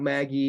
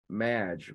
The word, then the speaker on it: Madge: outbound dialing as well it's not Maggie it's Madge rhymes with badge match yeah awesome very